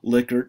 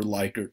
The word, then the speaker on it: Likert: and it's measured on a liquor scale or likert scale you can pronounce it either way and the directions are